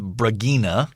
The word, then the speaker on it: Bragina: I would have gone with Bragina. Bragina. Okay. You got to say it with a little Russian flair.